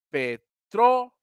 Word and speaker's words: petróleo: una en una sílaba ahí la forma correcta es p trole o petroleo es la forma correcta y al ser de esta forma Ahora sí díganme dónde suena fuerte no petróleo petróleo aquí en el trono aguda